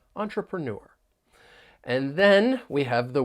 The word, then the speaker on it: entrepreneur: entrepreneur is B so keep in mind that the stress is on that final syllable when you're pronouncing this word entrepreneur entrepreneur and then we have